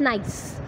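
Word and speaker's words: gneiss: फिर आते हैं हमारे जिनाइसिस. Pronouns नाइस. इसको प्रनाउंस कैसे कहते हैं? नाइस.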